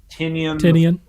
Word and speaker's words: Tynion: It's James Tynion. Yeah. I think that's how you pronounce his name.